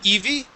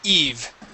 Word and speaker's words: Eve: let's go to uh Eve instead of Eevee it is Eve Eve Eve Eve nice job okay Eve yeah